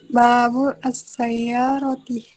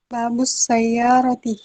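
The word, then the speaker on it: باب السيارة: Babul as-sayyarati. Babul atau babus? Babus sayyarati.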